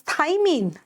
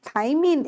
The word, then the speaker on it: thymine: Thiamine is B1, whereas thymine, just write thymine is the base of DNA.